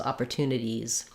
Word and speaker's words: opportunities: IES like opportunities so if the word ends in IES it's just an ease sound so it's the tense e and so opportunities you'll hear that Z more clearly if you're linking to another word like the opportunities are there opportunities are um but yeah that's cookies opportunities movies all have that e and z sound good question thank you